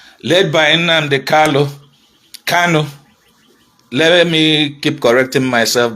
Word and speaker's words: Kanu: i conflict those twos cano is the real pronunciation so when i look